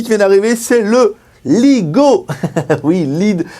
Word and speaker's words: Leagoo: Aujourd'hui, on va tester une nouvelle marque sur JG qui vient d'arriver, c'est le Ligo. Oui, Lead 7. Non, ça s'écrit pas comme un Lego, c'est Ligo L2O avec le Ligo Led 7 qui a la particularité d'avoir une batterie énorme de 4500 mamp.